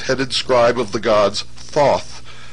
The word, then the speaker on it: Thoth: scribe of the gods Thoth pronounced taehu T the so-called Emerald Tablet